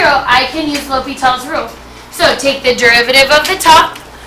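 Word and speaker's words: L'Hôpital: L'Hopital's rule can fix it.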